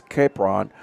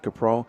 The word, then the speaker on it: Capron: Will be brought down from behind by number 52, Bryce Capron, and that's going to make it 4th down and about Caprone. I'm sorry, is pronounced Caprone.